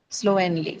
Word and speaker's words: slowly: It's the first syllable, which is slow, right? Slowly.